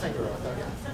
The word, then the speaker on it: Fingeroth: It's pronounced Fingeroth.